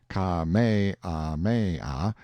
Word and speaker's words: Kamehameha: I heard afterward that the comfortable, easy-going King Kamehameha, pronounced Ka-me-ah-me-ah, the fifth, had been seen sitting on a barrel on the wharf the day before, fishing.